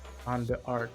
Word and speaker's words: Jeanne d'Arc: Jeanne d'Arc. You know French. How do you pronounce it?